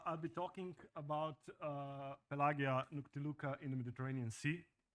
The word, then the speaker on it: Pelagia: is classic Latin pronation while the the modern Latin called Church Latin would pronounce it as Italians do which means like pah uh but I will stick with my Slavic and ancient Latin pronunciation so I'll be talking about pelagia my co-authors are D